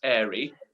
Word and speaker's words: Airey: really one one because my name is airy and so curly hairy just just okay because it rhymes big cockney warming back